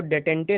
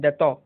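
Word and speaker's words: détente: का दैतो हुआ था, दैतो इज एन फ्रेंच वर्ड, यहाँ पे DETENTE है, इसको डेटेंटे नहीं पढ़ेंगे या फिर कुछ इस तरह की चीज़ें, इसका प्रोनाउंसिएशन होता है दैतो।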